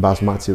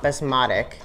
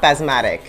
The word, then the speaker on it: basmati: to cook it with basmati rice you know basmatic rice is everything you keep saying it wrong it's not basmatic it's like you're saying the rice is asthmatic no that's it it's